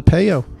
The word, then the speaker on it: Pejo: Mayo with a P.